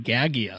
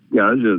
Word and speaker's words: Gaja: I've been calling him Gagia, so am I mispronouncing that? Yeah, you are. But anyway, Gaja is a beautiful soul